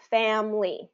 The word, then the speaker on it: family: is family is the the way native English speakers say it is family so if you see here Fam Family Okay so we've reduced it down to two syllables because really it should